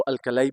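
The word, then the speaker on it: alkali: पहला ग्रुप है इसको अल्कली मेटल्स कहते हैं, या इसको अल्कलाई भी कह सकते हैं। कुछ लोग इसको अल्कलाई प्रोनाउंस करते हैं, इसको अल्कली या अल्कलाई मेटल्स कहते हैं।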